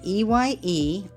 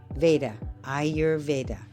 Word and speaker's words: Ayurveda: The way I teach it is you say EYE-your-veda, Ayurveda.